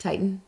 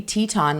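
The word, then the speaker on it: Tieton: that's how it's pronounced Titan it's spelled t i e t o n it could be Teton like the Grand Tetons yeah but tie makes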